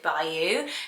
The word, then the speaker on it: Bayou: is really lovely name i prefer it bayou but you actually pronounce it by you traditionally but you could